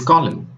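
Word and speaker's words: column: letter N yes it's the letter n this is autumn and this is Colin did you get that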